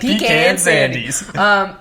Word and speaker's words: Pecan Sandies: Cassandra Lee is National Pecan Sandies Day. You have to say it like that. Pecan Sandies.